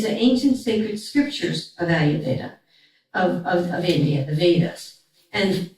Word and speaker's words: Ayurveda: And you know, some people say, oh, that long word, and then I don't know how to pronounce it, you know? So, Ayurveda.